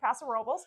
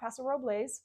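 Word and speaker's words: Paso Robles: Pasa robbles as we learned the the locals pronounce it Pasar Robel not pasarobles but but Brewery was very close somewhere I've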